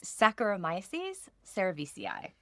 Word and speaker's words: Saccharomyces cerevisiae: And then finally, I have practiced my pronunciation. Yes, you have. Our main yeast that we use in winemaking is Saccharomyces cerevisiae.